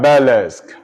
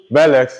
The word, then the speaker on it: burlesque: Then you have burlesque. Burlesque is spelled B-U-R-L-E-S-Q-U-E.